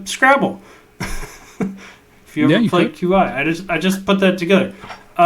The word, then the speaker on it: Qi: For the longest time, I would say Qi, because I think it's literally Q. Is it QI? It's QI.